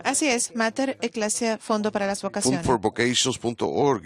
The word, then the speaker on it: Mater Ecclesia: quiero asegurarme que lo voy a pronunciar correctamente. Es Mater Ecclesia. Así es, Mater Ecclesia, Fondo para las Vocaciones.